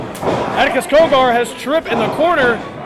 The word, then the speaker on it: Cogar: Is it Cogger or Cogger? Cogger. Oh, okay, Cogger. I was saying it wrong, so it's like the food store.